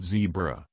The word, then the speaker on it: zebra: very english very british my son said zebra he told ellen degeneres while pronouncing the word with a short e i'm gonna fix that